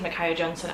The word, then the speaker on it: Micaiah Johnson: It is Micaiah Johnson. I've been saying it like this now for about 2 weeks and wondering whether or not it's the right way to say it, and it is.